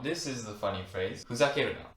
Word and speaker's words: ふざけるな: People would say ふざけんな instead of ふざけるな. But this is how we say it correctly, okay? Instead of るな, we can say んな in a casual, more native way.